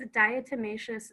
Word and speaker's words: diatomaceous: What was the pronunciation of that word? I think it's diatomaceous earth.